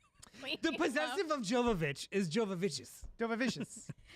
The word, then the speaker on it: Jovovich: Milla Jovovich is I butchered it.